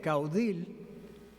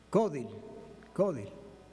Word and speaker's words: Caudil: Y a él, el nombre Caudil, en realidad yo le di esa pronunciación para que la gente lo entendiera mejor pero en Cuba ellos le decían Códil.